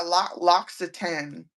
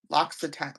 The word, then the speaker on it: L'Occitane: But yeah, L'Occitane, L'Occitane, L'Occitane.